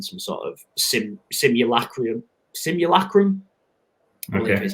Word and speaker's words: simulacrum: and we're in some sort of sim simul simulacrum is how you say it so it's like